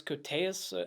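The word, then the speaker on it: Koteas: is the one with virginia matson and elias cortes that's how you say his name and i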